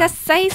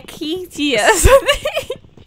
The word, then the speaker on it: acacia: How do you pronounce that word, Stampy? Asasia. Oh, it's Asasia. I thought it was like a Akitia.